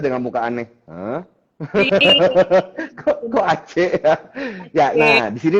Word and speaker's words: Aceh: Jadi Aceh ini dibacanya harusnya Aceh.